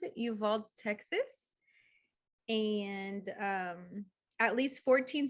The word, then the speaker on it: Uvalde: an active shooting at an elementary school in Uvalde, I think is how you pronounce it, Uvalde, Texas.